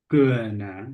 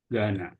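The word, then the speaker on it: Ghana: from Gana jadi e kalau GH ini yang dibaca g-nya aja kayak gitu kayak di sini tadi jadi h-nya he-nya itu enggak dibaca tapi langsung g-nya jadi bukan Gana tapi Gana Oke aku punya teman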